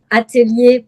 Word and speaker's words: atelier: and I'm an image consultant and personal stylist and the name of my company is Atalier Prestige.